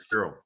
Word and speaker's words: Fiorot: They don't even pronounce the O, the OT at the end. They say Manon Fior. That doesn't. It's not correct.